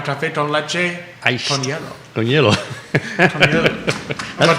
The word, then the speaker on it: hielo: It's spelled a little different than yellow. It's but it sounds just like it.